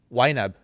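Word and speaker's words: YNAB: WAB. Yeah. How how do you spell that? Uh it stands for you need a budget. So Y Nab wab.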